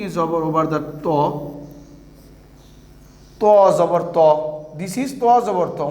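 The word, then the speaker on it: طَ: To Jabar To. This is To Jabar To. We have to pronounce To Jabar To, not Ta Jabar Ta.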